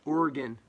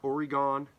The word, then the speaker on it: Oregon: And so, sometimes, I think Oregon, the company, and it's pronounced Oregon, not Oregon.